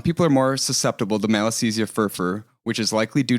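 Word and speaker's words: Malassezia: Sebm is caused by a lipopilic commensal yeast called malisthesia fervor which is spelled m a l a ss e z i a fur r fur r.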